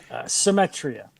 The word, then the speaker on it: Symetria: And I don't want to butcher the same the the pronunciation. How do you say the band's name? Symmetria.